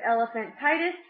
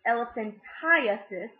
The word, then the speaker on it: elephantiasis: to lymphatic dysfunction y'all might have heard of elephant titis but we actually actually pronounced elephantiasis due to this I and this a and